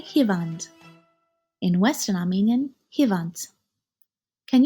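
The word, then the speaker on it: հիվանդ: In eastern Armenian, we say hivand. In Western Armenian, Hant. Can you say hivand or hivant?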